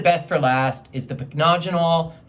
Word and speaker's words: Pycnogenol: I saved the best for last, is the Pycnogenol, 5%. Yes, that's how you pronounce it. It's impossible. It's impossible to understand. So I call it the impossible, marvelous antioxidant serum. Pycnogenol is a derivative of pine needles.